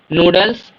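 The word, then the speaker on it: Nudeln: को चिप्स बोलते है नूडल्स नूडल नल य एन साइलेंट है न डेल नट्स न्यूस न्यूस यहां नूसा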